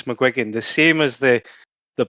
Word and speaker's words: McGuigan: And also joining us, we have Barry McGuan. Mcwigan.